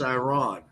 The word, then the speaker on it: Iran: Listen, it's Iran. Right. I won't have you mispronouncing.